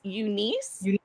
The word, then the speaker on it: UNIS: you in the comments it's Unice I want to say it yeah Unice is how I was told it's pronounced so it's gonna be